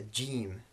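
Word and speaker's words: جيم: All right, then we have a jim. This is just the equivalent of the English J, as in Jack and Jim, for example.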